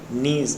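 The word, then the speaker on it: knees: Reason, मैंने कहा कि प्रोनाउंसिएशन बेस है, हम इसको किनी नहीं पढ़ते हैं, नीज पढ़ते हैं, नी पढ़ते हैं।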